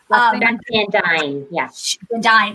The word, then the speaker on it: Van Duyne: Is that how you pronounce it, Carter? Van Dyne.